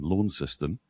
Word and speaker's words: Launceston: I mean, for heaven's sake, the fact that they pronounce Launceston Launceston, this is all great.